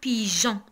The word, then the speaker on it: pigeon: Pourquoi? Pour éviter la prononciation de G. Pour prononcer G, G, on a ajouté un E. Donc, pigeon. Pigeon. Si on n'a pas fait E, on va prononcer pigeon. Mais on a ajouté un E pour prononcer pigeon.